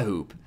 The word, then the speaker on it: ほ: It's pronounced like ho in ho or ho ho ho ho.